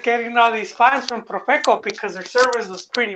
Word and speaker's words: Profeco: They started getting all these fines from Profeco because their service was pretty bad.